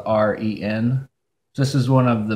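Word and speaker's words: 人: an English art but I've also heard people pronounce it more like a J sound like Jen so that one's the tough and Robert Downey jr.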